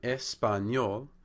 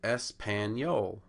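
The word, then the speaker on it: español: this works out so in espanol you see the first two syllables end in vowels the E and the a that's how a native Spanish speaker would pronounce it but an American speaking English without any Spanish background might say espanol and what the American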